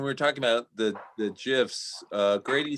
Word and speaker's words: GIF: talking about the the gifs uh grady says the creator said it's jif but gif makes more sense because it stands for graphics interchange format so you know i